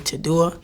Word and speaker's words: Tedua: There was this Italian artist, I think you pronounce his name Tadua.